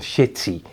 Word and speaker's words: Seti: So he's not Seti or Seti, which is the right pronunciation.